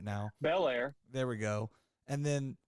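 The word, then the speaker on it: Belair: well I can't say her name right now Bel Air there we go and then the third one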